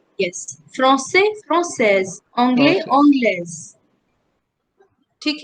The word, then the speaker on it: anglaise: You have to also learn how to pronounce it, no? So il est anglais, elle est anglaise. Yes. Anglais. Yes. Français, française. Anglais, Process. anglaise.